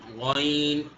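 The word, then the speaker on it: غين: এটা wine, গাইন, গাইন। Wine. শুধু প্রথমে গ যখন বলবো সেই গ অংশটুকু গলার ভেতর যাবে, এর পরের অংশটুকু গলার ভেতর যাবে না। গাইন, ওয়াইন, গাইন।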